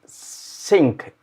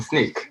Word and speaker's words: Snyk: with us XQ from sync is that right did I say it right from sneak sneak sneak good so first of all